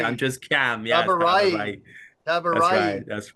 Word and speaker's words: Tabarraee: My name is Kam Tabarraee. It's actually a very difficult last name because it's in Farsi, and so I always say I'm just Kam. Yeah, Tabarraee.